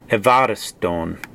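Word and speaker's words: εὐάρεστον: And then another difference is that sometimes the upsilon is pronounced as a V, evariston.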